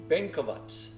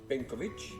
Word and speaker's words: Benkovac: jump in here and correct myself with the pronunciation of this town and the church that it's in it's bovats now being anouncing it as benovic uh that's a nearby